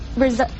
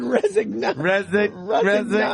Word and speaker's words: resigned: says Wishnask resigned in December as a 7th grade English language arts teacher at Williston Middle School. How do you pronounce it? Resigned. Resigned. That G will screw you up every time.